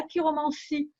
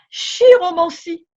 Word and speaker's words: chiromancie: C'est pour ça qu'on ne dit pas chiromancie ou chirologie, comme on pourrait le croire pour chirurgien. Non, non, non. On dit chiromancie, chirologie, comme un chiropracteur aussi.